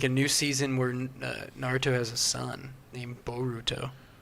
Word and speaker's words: Naruto: I need to watch Naruto.